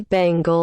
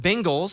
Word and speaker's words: Bengals: thank you wait what so it's like Ben like b e like Ben Gay yeah it's not Bengals Bengals it's a Bengal